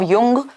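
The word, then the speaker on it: Jung: Collective unconscious is given by Karl Gustav युंग, जिनको लिखते हम जुंग है, बट जो प्रोनाउंसिएशन है वो युंग है।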